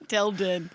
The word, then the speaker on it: Dal Din: Is that how I pronounce it? Dal Din? Dal Din.